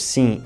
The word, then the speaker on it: sim: Mas claro que não é assim tão simples, porque em português o M no final das palavras nunca faz o som M, em vez disso faz um som nasal. Por exemplo, as palavras sim e bom não se